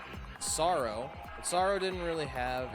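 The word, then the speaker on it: Psaro: So in Dragon Quest IV, the main antagonist was Sorrow the Manslayer, pronounced Sorrow.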